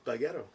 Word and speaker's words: Peguero: I'll spell Peguero, and I'm saying it the white way, not the right way.